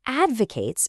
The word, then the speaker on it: advocates: The town council advocates buying fruits and vegetables grown on local farms. Did you hear that pronunciation? Advocates. It's the verb form.